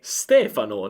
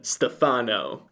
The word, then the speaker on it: Stefano: Questo non è un errore di accento, ma un errore di pronuncia. Questo perché la pronuncia del nome Stefano è Stefano, non Stefano.